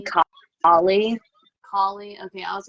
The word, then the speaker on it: Kali: It's Kali. Ostris, which is again probably pronounced wrong, but that's how I say that one.